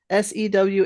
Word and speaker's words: sew: we had AG G we'd say sewage right s e w a g e sewage but this is pronounced sew who taught you how to sew